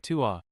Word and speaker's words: ตัว: เธอ ตัว Thu sounds like ta and tua sounds like tua.